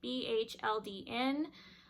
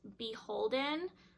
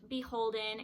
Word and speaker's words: BHLDN: let me know that the brand is actually pronounced beholden i'll kind of write it out in quotations on the screen so the brand is actually pronounced beholden it and it is